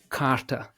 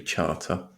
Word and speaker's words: Charter: I kept calling you Philip Carter, so I kept mispronouncing your surname.